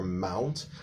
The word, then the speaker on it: Mt.: written next to the mountain's name, they often pronounce it as mountain. That's wrong. MT is like a title of the name of a mountain. So never pronounce that as mountain.